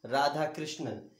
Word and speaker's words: Radhakrishnan: Radhakrishnan. Let me spell it out for you.